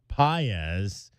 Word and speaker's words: Pages: had a couple of RB as did Andy pz who spells his name p a GES so it looks like pages but it's pronounced pz Will Smith The Fresh Prince of LA the